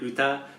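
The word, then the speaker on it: 歌: Is that the correct pronunciation? Uta or utau? Uta.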